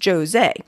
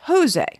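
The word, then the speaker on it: José: as i am portuguese my name is pronounced with a hard j so it is jose you can probably imagine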